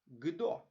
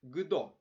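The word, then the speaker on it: kdo: Чеською ґдо. Саме так, друзі, ґдо. Вимовляємо, а пишемо КО.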